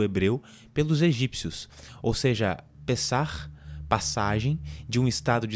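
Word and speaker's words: פסח: A palavra Páscoa é originalmente uma palavra hebraica que tem como pronúncia Pessah, ao meu hebraico aqui, e significa literalmente passagem.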